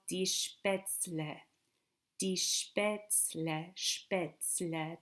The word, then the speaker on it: Spätzle: These are called die Spätzle. Die Spätzle, Spätzle, die Spätzle, Spätzle, die Spätzle, not Spätzle, die Spätzle. Make sure to pronounce it that way.